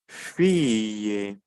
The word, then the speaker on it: fille: pronunciación del vocabulario shansón pasamos al caso de la doble l ya no la pronunciaría más como una doble l sino como una Y se repite en las palabras ejemplo fille la familia fille la